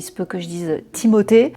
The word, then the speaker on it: Timothée: Désolé, il se peut que je dise Timothé. Je le prononce à la française mais apparemment ça se dit Timothé car je pense que